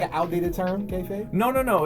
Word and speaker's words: kayfabe: Yeah, so like, because you were talking a little bit about drawing from inspirations to develop your kayfabe. That's how you pronounce the word?